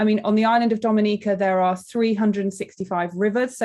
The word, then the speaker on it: Dominica: it is spelled d-o-m-i-n-i-c-a it is not dominican republic it is pronounced dominica and is situated between